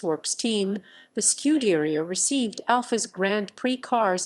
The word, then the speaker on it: scuderia: idea of producing road cars when he formed scuderia ferrari in 1929 with headquarters in modena scuderia ferrari pronounced scuderi a literally means ferrari stable and